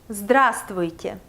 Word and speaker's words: Здравствуйте: Yeah, I know perfectly that this word may sound very difficult to pronounce. And if you have never learned Russian before, you should know that it's typical for Russian language to have 2, 3 or even 4 consonants together. But it's not that difficult after you get used to it.